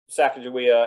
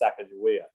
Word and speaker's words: Sacagawea: it wrong but i i learned to pronounce it as sacagawea but um you're probably pronouncing your your your pronouncing is probably more correct than mine there's there's several ways to pronounce it and there's at